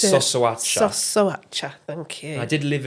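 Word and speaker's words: Șoșoacă: Right, you might have to help me with the pronunciation. I think it's Sosoacha. Sosoacha, thank you.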